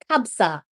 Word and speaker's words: Kabsa: Kabsa, did I pronounce it right? Kabsa? Kabsa. Kab, Kabsa.